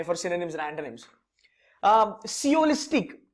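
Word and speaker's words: sciolistic: सियोलिस्टिक, इसमें एस आपका साइलेंट रहेगा बाय द वे.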